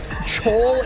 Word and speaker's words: Chole: Chole is not pronounced Cole.